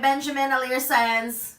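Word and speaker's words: Benjamin Alire Sáenz: It's Aristotle and Dante Discovered the Secrets of the Universe by Benjamin Alire Saenz.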